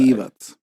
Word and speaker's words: Divac: You It's Divac. Look on the bright side. Divac.